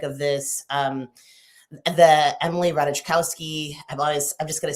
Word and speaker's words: Ratajkowski: kind of paradigmatic of this um the Emily Ratajkowski, I've always I'm just going to say Emrata, cuz I always butcher her name. I'm sorry, Emily, I know you're watching. Ratajkowski.